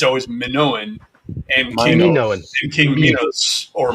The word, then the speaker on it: Minos: It's always Minoan and King Minos or Minos. But if it's Greek, it's going to be Minos.